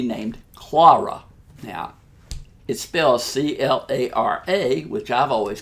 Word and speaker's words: Clara: saw a movie named clora now it spells CL ara which I've always called Clara maybe that's just my southern accent but in